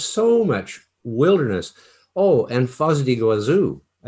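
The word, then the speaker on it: Foz do Iguaçu: Oh, and Foz do Iguazu, maybe I'm pronouncing it the Spanish way, but that waterfall you have in the south of Brazil is definitely the most beautiful in the world.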